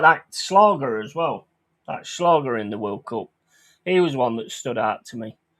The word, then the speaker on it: Schlager: That Schlager in the World Cup. He was one that stood out to me. Whether it was because his name rhymes with lager, that's probably why.